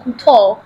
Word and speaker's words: Couture: ARETE, then Couture, like French name.